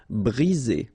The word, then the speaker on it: briser: 1 vowel, 2 vowels, and only 1 S between the 2, so you get the sound Z. Briser. Imaginer.